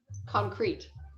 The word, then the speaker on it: concrete: hungry concrete concrete yeah so in concrete it's the second syllable that is stressed um and so you want to say it a little bit longer and a little bit louder concrete concrete concrete there you